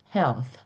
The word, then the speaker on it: health: When you pronounce HL and th health. Okay. Your mouth is stay open when you finish pronouncing that word.